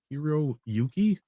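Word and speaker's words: Hiroyuki: hak how do you say that culture hiri hero Yuki there we go hero Yuki yeah yeah you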